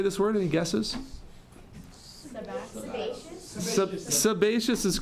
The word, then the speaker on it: sebaceous: know how to say this word any guesses sebaceous is correct sebaceous yeah so the the sebaceous